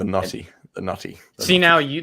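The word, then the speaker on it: Noti: blamed that accent but it was his pronunciation it's the naughty the naughty the naughty see now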